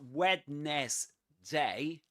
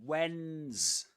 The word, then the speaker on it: Wednesday: It's not wetness day but Wednesday.